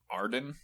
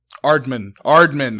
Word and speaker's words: Aardman: I don't really like the art style of Ardum, but I'm sorry. It's just not my thing. Aardman. I've been saying it wrong. It's Aardman.